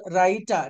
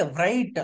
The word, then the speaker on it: write: ఇలా డబ్ల్యూఆర్ తో రైట్, WRATE రైట్, WRANG ring, WRANG rang, WRONG wrong. అంతేగాని డబ్ల్యూ కలిపి చెప్పకూడదు. కొంతమంది రైట్ అలా అంటారు, అలా కాదండి. డబ్ల్యూని సైలెంట్ చేసుకోవాలి.